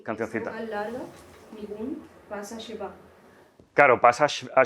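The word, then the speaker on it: ניגון: Sí, la palabra hebrea es nigun, Sí. pronunciada en Ashkenazi es nigen, y ahí le metes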